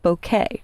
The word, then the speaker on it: bokeh: Now, there's a lighting effect called bokeh, and that's actually how it's pronounced.